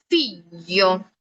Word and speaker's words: figlio: El sonido representado aquí es el sonido Y. Ese también lo iremos viendo. ¿Ok? Pero este sonido, para que vean, realmente no existe exactamente en el español. ¿Algo parecido? Sí. ¿Igual? No. Entonces, para producirlo, yo siempre les digo, lo pueden asociar un poquito al español como lo que es la Y, pero realmente no es igual, porque aunque tú digas